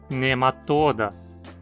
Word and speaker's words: Nematoda: Esse radical possui um O longo, então a pronúncia precisa ser paroxítona, nematoda.